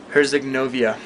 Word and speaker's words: Herzegovina: to Bosnia and Herzegovina, or how do you pronounce it? Herzegovina.